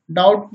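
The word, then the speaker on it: doubt: देखें कुछ एग्जाम्पल्स, जैसे डेट मीन्स कर्ज, डेटर मीन्स कर्जदार, डाउट मीन्स शंका। इन सभी शब्दों में बी के जस्ट बाद टी आया है तो बी हमेशा साइलेंट रहता है।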